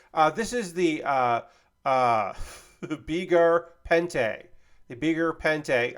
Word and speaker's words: Beguir-Pente: The Beguir-Pente. I try to say it French. It's not a French word. It's a made-up word, but Pente, pronounced like that.